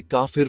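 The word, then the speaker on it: كافر: काफिर शब्द अरबी में काफिर प्रोनाउंस किया जाता है।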